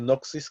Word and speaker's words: gnosis: se llama gnosticismo, que viene de noxis, que significa conocimiento. Se escribe Gnosis, ¿ok?